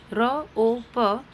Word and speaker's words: rope: Next is ROPE rope, E is silent in this word, so rope.